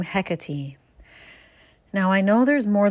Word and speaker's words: Hecate: I have a burning question about the proper pronunciations of the name Hecate.